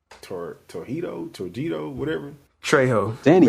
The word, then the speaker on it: Trejo: Trejo. Danny Trejo?